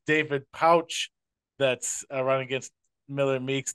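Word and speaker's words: Pautsch: his name was David patch like pumpkin or strawberry patch but it sounds like he normally says it's pronounced pouch like kangaroo pouch so my deep apologies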